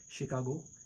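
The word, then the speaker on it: Chicago: जैसे मशीन इस तरह शेफ कुकिंग एक्सपर्ट जो होते है शेफ शिकागो एक जगह का नाम है कैशे।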